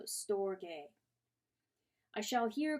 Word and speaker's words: storge: call this love story a two syllables and the G is hard so storge I shall here call